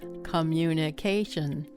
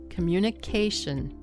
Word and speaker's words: communication: Don't memorize it as communication. Memorize communication.